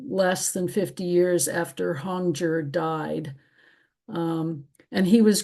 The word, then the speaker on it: Hongzhi: And Hongjur is pronounced Hongjur.